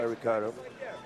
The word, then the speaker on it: Ricardo: inside leg there by ricardo sometimes you gotta hear bas Rutten say Ricardo sometimes I will say he Pardo in Brazil they pronounce the words that begin with an R with an H sound Ricardo wings in with